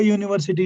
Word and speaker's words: university: But what is its pronunciation now? JU is the pronunciation. So JU means YU. So therefore it is a university, you should say.